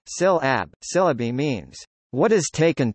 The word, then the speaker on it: συλλαβή: Syllable is an Anglo-Norman variation of Old French syllabi, from Latin syllaba, from Koine Greek syllabi syllabi, Greek pronunciation, syl ab.